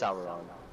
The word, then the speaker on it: Sauron: Lucas, is it pronounced Sauron or Sauron? uh, technically it's Sauron. That sounds gross. I'm saying Sauron, I don't care.